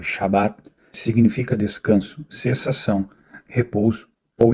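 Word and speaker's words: שבת: No judaísmo, o sábado pronunciado Shabat significa descanso, cessação, repouso ou interrupção.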